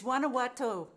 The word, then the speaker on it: Guanajuato: by the way i'm not even trying to pronounce the name of the town susan can you say that for me it's guanajuato mexico guanajuato mexico okay now i could say it and